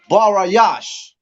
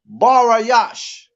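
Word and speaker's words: בראשית: the Hebrew no sweat for Tom's sake is barayash and it's spelled b-a -r-a a s h y a t h barayash right now what does Genesis mean yeah so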